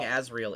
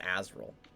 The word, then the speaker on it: Azrael: it's spelled like this everyone keeps saying asriel it is azrael i mean he can